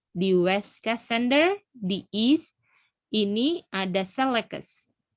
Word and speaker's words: Cassander: Nah, terus tanduk yang pertamanya, raja pertamanya itu adalah Cassander, gitu ya bacanya. Cassander, betul.